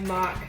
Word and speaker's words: MOC: in Lego terms means or you can say it like mock the sound cooler I would that's my term um basically means my own creation.